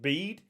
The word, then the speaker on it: Bede: I'm pretty sure it's pronounced Bede, but I rate want to call him Bede.